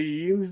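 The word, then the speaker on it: yinz: What are Yins doing?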